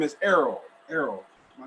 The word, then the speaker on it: Errol: ero Henderson dr. Henderson welcome thank you very much well I didn't expect me to read all that pronounce it my first name is Errol Errol my name is Darryl apologies apologies thank you